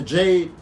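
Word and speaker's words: Djed: on there too the Jade Jade yes all right it's spelled d je d like the G right add a chart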